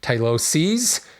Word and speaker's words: tyloses: called on my pronunciation tylosis is the plural here or excuse me tylosis s i is the singular tyloses SES is the plural